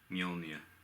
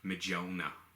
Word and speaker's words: Mjolnir: Mjolnir, if I'm pronouncing that properly. I got corrected a couple of weeks back. Apparently, one of my friends thought it was pronounced Mjolnir.